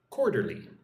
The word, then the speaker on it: quarterly: Just say it slowly like this. Querly quarterly.